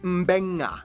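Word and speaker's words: Beqa: And just remember, in the Fijian alphabet, C makes the th sound, D makes the nd sound, B makes the mb sound. Both Q and G make the ng sound. Therefore, the town of Nadi is actually pronounced Nandi. And this word is pronounced Mbenga.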